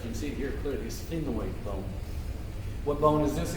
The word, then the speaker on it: sphenoid: It's called a sphenoid bone. How do you spell that?